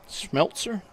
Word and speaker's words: Smeltzer: a jersey on with Selzer Smeltzer Smeltzer yeah there we go again why don't